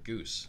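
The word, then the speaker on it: Ghüs: Gus likes Saga. We do your Goose. Sorry. I pronounce it Goose because the umlauts.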